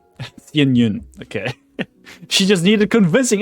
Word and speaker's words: Yun: It's not Shyun, it's Yun.